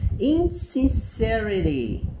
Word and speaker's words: insincerity: Insincerity. Então, assim, ela é pronunciada diferente do adjetivo, que tem o mesmo radical, né?